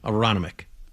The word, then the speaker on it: Aronimink: How do you pronounce it? Aronimink? Aronimink.